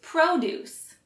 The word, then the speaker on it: produce: focusing on today is produce which emphasizes the first syllable pro and means fruits and